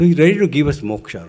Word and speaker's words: moksha: So he's ready to give us moksha, right? But effort is on our part. And what is moksha? Two syllables, moh plus sha.